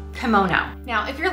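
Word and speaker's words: komono: the hook and um no because this type of kimono is spelled k-i-m-o-n-o and it is the official dress of japan this other type of kimono spelled k-o-m-o-n-o and that is the japanese word for small article or accessory what we usually refer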